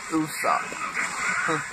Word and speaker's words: Usopp: Usopp.